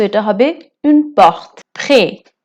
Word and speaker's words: prêt: prêt prêt মানে প্রস্তুত হওয়া বা রেডি হওয়া। এখানে টিটা সাইলেন্ট।